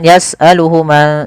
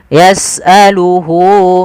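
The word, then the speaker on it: يَسْأَلُهُ: Maka hunya di sini panjangkan. Jangan yasaluhu tapi panjangkan dulu. Di sini ada tandanya dengan wau kecil. Yasaluhu man fis samawati.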